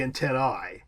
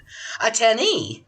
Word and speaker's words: antennae: In Latin, the correct pronunciation of an AE diphthong would be an I, so it would be antennae. However, in English, it's pronounced, Kathy? Attennee.